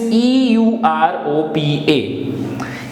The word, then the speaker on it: Europa: The next is EUROPA. E is A, U is U, O is O, A is A. So, A, any guesses how we will pronounce this? So, this becomes Europa, Europa.